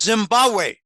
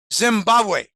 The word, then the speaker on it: Zimbabwe: and rather important manner it's called Zimbabwe the second B is not a hard beat Zimbabwe um anyway interesting especially